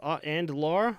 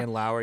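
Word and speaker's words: Andlauer: And Ryan Reynolds, Toronto billionaire Michael and Laura. Is that how you say his name? And Laura? And Lauer, yeah.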